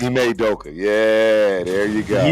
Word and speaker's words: Ime Udoka: It's a hard name to pronounce. You're talking about, right? Ime Udoka. Ime Udoka.